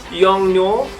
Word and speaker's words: Yongnuo: I just bought this young, how do you pronounce this? Yongnuo.